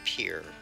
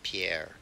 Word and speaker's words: Pierre: skip my rest day in pier which is the way they pronounce it around here in case you were wondering it is definitely not pierre skip my rest day